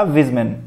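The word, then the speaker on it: Weismann: उसका नाम था विजमैन. विजमैन, वाइज मैन, ऐसे आप याद रख सकते हो.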